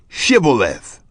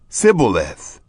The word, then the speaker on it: shibboleth: they said to him now say shibboleth and he said sybilith for he couldn't manage to pronounce it right then they laid hold